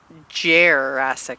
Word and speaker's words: Jerrassic: Welcome to Jerrassic Park on the grounds of the Military Aviation Museum in the outskirts of Virginia Beach, Virginia.